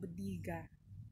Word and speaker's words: bodega: Basta yan, hindi ito kwarto para siyang budiga. Yun ang tamang pagkabigkas.